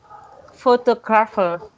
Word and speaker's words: photographer: Photographer. Photographer. Yeah. Photographer. So the intonation is that third syllable. So photographer. So Pho- photographer. Sorry. photographer. The intonation is at the second syllables.